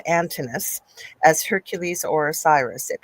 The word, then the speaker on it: Antinous: So there said the kid, but it's Antinous, as Hercules or Osiris.